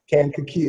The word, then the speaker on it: Kankakee: in a city called Kankakee you could just break it down three syllables I thought Kankakee Illinois is so hard